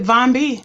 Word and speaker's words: Von B: say last night oh it's it's straight as you said it Von B that's right